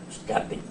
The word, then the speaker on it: Uzcátegui: embajador de Uzcategui, Uzcategui, sí, porque el nombre es como el apellido, sí. Entonces lo he oído diferentes pronunciaciones, pero es una palabra grave, Uzcategui.